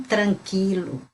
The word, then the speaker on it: tranquilo: Tranquilo, tranquilo, não tranquilo. Tranquilo é em espanhol. Então, aquilo a gente não escuta o U, aqui a gente escuta o U. Tranquilo, a gente pronuncia o U.